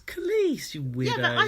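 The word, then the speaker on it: Kelis: Kellis. Jack says Kellis as well. It's Khalees, you weirdo.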